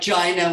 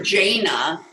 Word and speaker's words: Jaina: uh two days ago how to pronounce it and it was like gina which which rhymes with something yeah so i was calling her jaina or something and ruby corrected me that i was mispronouncing um admiral proudmoore's name